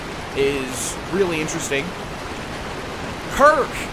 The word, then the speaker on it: Kirk: Knight Kurt is really interesting. Kirk, I keep calling him Kurt. Kirk.